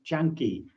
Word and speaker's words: Canki: I mispronounced the word it's not Kani it's chany the C in Pary is a CH and the K is a a hard C so um from now